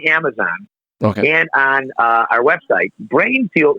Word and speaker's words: Breinfuel: and on our website brain fuel is spelled d-r-e-i-n we don't want to just be the brain anatomical brain we're a unique product so it's b r e i n f u e l dot com and you go to